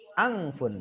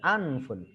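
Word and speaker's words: أنف: Angfun ya, jadi cara membacanya adalah angfun ya, ditekan di nun matinya anfun.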